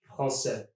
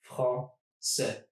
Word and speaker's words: français: Take the word French, français, for instance. Français. It's just 2 syllables.